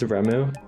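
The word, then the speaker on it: Reimu: It's Remu.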